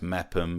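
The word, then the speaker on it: Meopham: Meerpham being pronounced Mepham, and Rootham is...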